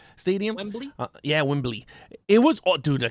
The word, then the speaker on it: Wembley: in london i hope i said it right whibley stadium uh yeah wembley it was all dude the concert was all